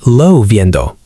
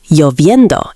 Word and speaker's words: lloviendo: Some learners say llovendo. But it sounds more like lloviendo in many accents.